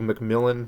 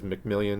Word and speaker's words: McMillan: W the Walmart CEO Doug McMillan which I was pronouncing as mcmillion because you just can't